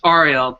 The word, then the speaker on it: Ariel: You say your first name Ariel? It's Ariel, but it gets butchered so much that, you know, I stopped caring.